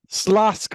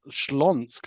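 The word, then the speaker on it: Śląsk: the English version so uh slask what's laugh is the English version and uh schlonsk of what's wrath is the Polish version if you use the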